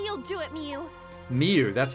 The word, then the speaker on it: Miu: Miu, that's how you say her name.